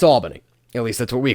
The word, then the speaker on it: Albany: And yes, guys, it's pronounced Albany, not Albany, even though I know it's spelled with one L, and you'd think it'd be Al, not all with two L's.